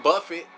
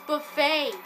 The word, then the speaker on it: buffet: means sounds like HomeTown Buffet it's Buffet it's Buffet man the t is silent but anyway um yeah